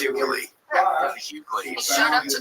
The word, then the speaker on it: Hughley: Oh, it's Hughley.